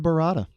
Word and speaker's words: burrata: Is this pronounced burrata? Yes, this is the burrata.